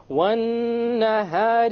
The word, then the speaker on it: والنهار: We dropped the lam because it is a solar letter.